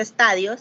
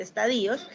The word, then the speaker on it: estadios: él tenía tres estadios esto no se dice estadios sino que se dice estadios en el pre convencional